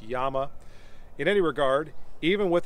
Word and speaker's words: Llama: price 1911 like the llama max won by the way i think i'm pronouncing that wrong i think it's properly pronounced yama in any regard even